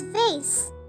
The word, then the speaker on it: vase: cabinet cabinet paintings paintings vas which can also be pronounced as vase vas or vase wall clock wall clock